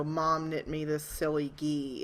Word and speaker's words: gi: michael's best friends is so i i hear ghee all the time when they're talking about it